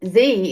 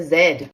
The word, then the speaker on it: Z: why do Americans say Z instead of Zed ah yes the famous Z versus Zed debate